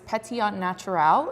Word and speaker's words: Pétillant Naturel: This is Pétillant Naturel, is how it's said, also known as Pet Nat.